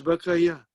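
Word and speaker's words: بكى: So now the vav changes into alif, da'a, and ya with the two dots changes into ya without dot, and we pronounce it as baka.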